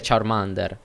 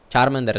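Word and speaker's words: Charmander: charman der saar mander cioè è giusto dire charm under carmen der sbagliato ma siamo abituati così per colpa dell'anime e via dicendo tutto quella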